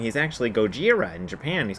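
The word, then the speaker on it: ゴジラ: So Gojira. So people think, oh, it's really Gojira. Well, it's not Gojira or Godzilla. It's something kind of in between.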